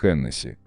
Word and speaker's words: Hennessy: Но в действительности правильно так, как мы привыкли Hennessy. И связано это не с правилами французского произношения, а с фамилией основателя коньячного дома. Ричард Хеннесси был ирландцем.